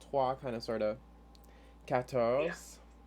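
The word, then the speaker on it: quatorze: kind of sort of katos again with a q u right catos with the american accent you say kators it's fine and then uh 15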